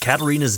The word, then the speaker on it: Katarina: me I can't believe that goddess uh mispronounced Katarina's name did you hear her say Cina near which shall see the crowning of King 27 days remain you would have thought that the voice director would have caught that huh it's obviously pronounced Katarina I hear a group